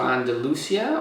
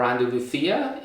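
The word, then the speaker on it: Andalucía: So I took a trip to the south of Spain, to Andalusia, or Andalucia in Spanish. That's how they say it.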